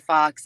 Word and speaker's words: kfhox: But I would do all these performances, and when the host would introduce me, they'd say kfhox. And they just slid it all together. And so Yeah. I became kfhox, and I said, "I don't care how you say it, as long as you Yeah.